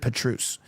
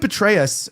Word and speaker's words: Petraeus: That being said, uh the CIA director David uh how do you say Petraeus? That's how you say it right. I always read it Petruse. But David Petraeus uh talked about that